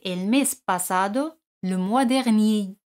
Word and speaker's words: dernier: Hemos dicho que el mes pasado, le mois dernier, R no se pronuncia. Le mois dernier, ni.